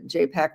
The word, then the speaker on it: JPAC: JPAC rhymes with Apac.